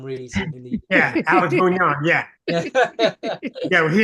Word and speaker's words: Bugnon: we pronounce him as Alex Bugnan here for some reason in the Yeah, Alex Bugnon.